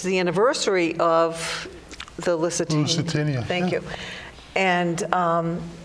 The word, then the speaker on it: Lusitania: and it was all I always put an extra syllable in, the Lusitania. Yes. didn't say it right. Lusitania.